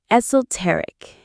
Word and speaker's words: esoteric: Don't try to use a super complex, esoteric word in your first attempt. Let's learn that one. Esoteric. Stress on tear.